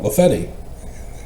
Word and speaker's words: Lafayette: And so talking to a a just a person there at the street about Lafayette, he huh? No, Lefetti. They've altered the original pronunciation for those who live there now.